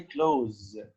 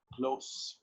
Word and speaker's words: close: a few very close don't say clothes here it is pronounced close close friends intimate friends